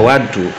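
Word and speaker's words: وَضوء: Wudu itu kalau dibacanya wadu maka itu air yang digunakan untuk wudu, jadi airnya.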